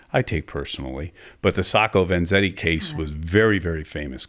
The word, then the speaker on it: Sacco Vanzetti: There was a case in the 1920s, Sacco Vanzetti. Am I pronouncing that right?